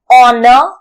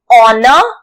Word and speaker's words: honor: tree for words like honor honest and R where H is silent we use an here H is silent